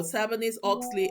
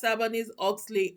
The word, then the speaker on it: Sarbanes-Oxley: SOX actually stands for Sarbanes-Oxley Act. Sarbanes-Oxley Act. A lot of people cannot even pronounce it. It is SOX, Sarbanes-Oxley, not SOC.